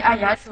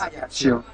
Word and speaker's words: Ajaccio: Alors, Ajaccio, ça se dit Ajaccio en Corse. Ajaccio.